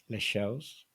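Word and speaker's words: Leixões: Les Shows. It's quite hard. That's a really hard one because the OE sound is tricky, and then you have to try and swallow the S.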